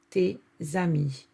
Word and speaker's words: tes amis: Ami starts with a vowel, which is the A, and together they would make this liaison, which is tes amis.